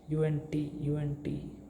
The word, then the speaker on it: und: But in German the word D is T, right? T, right? UNT. Then its pronunciation becomes UNT.